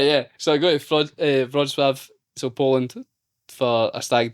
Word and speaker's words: Wrocław: is W, like it's, I can't remember how it's spelt, but I always say Wrocław, but all the guys are calling it like Walkfro or something like that. And I'm like, no, it's Wrocław.